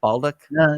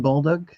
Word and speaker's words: Bolduc: How do you pronounce his name? Baldock? Don Bolduc and Maggie Hassan.